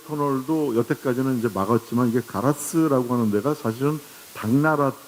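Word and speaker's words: 唐津: 한일 해저 터널도 여태까지는 이제 막았지만 이게 가라스라고 하는 데가 사실은 당나라 때 했던 토구가 우리나라도 당진이고 거기도 똑같이 당진이라고 쓰면서 읽는 걸 가라스라고 읽는데 후쿠오카 바로 옆인데 거기서부터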